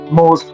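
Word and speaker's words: mot: I told you before the last words the last letters are usually silent most of them. Then we have O the sound o. Then we have it as in word like mo. Mo. Mo is m o t as in word.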